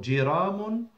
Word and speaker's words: جرام: The word gram is also pronounced with the جيم with the same كسرة. So جرام or غرام.